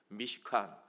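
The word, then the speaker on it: מִשְׁכָּן: 칸 들게 되어 있습니다 미쉬카 발음을 잘 하셔야 되요 무식한 이 아니고 미카 미카 회막 또는 성막 이라는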